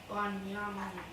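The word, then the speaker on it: בנימין: And how you would say it in Hebrew would be Banyamin.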